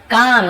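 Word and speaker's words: calm: काम, ये भी काम है, एल साइलेंट है, काल में नहीं पढ़ेंगे।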